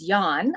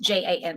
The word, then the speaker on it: Jan: to say this right it is Yan I I it's it's spelled j an so I was thinking Jan but it's Yan um he was did